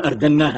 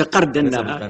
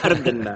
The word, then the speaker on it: أردناها: نحن نقول أردناها. نعم. بس بالألف لا بالقاف، ليس قردناها إنما أردناها.